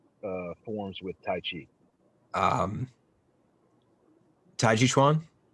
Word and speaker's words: tai chi chuan: say that one more time because i always mispronounce it uh it's the uh combative forms with tai chi um tai chi chuan tai ji shwan yeah come on yeah it's like uh it's